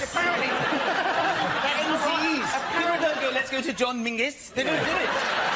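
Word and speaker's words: Menzies: And although his name is very odd, his name is Mingus. Mingus. Yes. Goss. Yeah. Ming. Yeah. But it's pronounced it's it's spelled M E N Z I E S.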